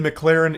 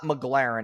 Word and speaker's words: McLaren: It's not McLaren, it's McLaren. Okay, so that's how we know this guy doesn't really have a lot of status.